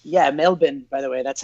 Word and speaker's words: Melbourne: wife okay Wow and it's yeah it's yeah Melvin by the way that's how you pronounce and Melvin so that's annoying to get used to because